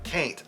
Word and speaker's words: caint: Occasionally, we just pronounce it as if we put a C at the beginning of ain't.